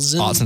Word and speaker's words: Autzen: You think Washington State walks into, was it the Autzen Stadium.